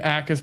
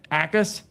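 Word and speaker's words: Jacas: Gabe Ackus, but the J is silent. Is that how you say it? It's Ackus?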